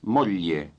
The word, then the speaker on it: moglie: capitano, vorrei presentarle mia moglie Jane. wife is, Moglie. Moglie. remember that the GL combination is pronounced lieu as in million.